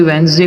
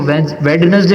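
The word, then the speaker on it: Wednesday: उसका मजाक भी उड़ाएंगे यानी अगर कोई वेनसडे को वेडनेसडे बोलेगा ना डी पढ़ के तो हम उसका मजाक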